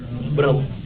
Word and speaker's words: Brahman: they refer it as brah written as Brahman pronounced as brah or Atma this is supreme reality according to